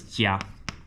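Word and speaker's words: 家: So uh this is Jia that's the uh P that's how you pronounce it J.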